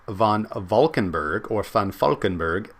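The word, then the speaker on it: Valkenburgh: a Vulcan Berg or fund Falkenberg as should be pronounced I believe in Deutsch said this was a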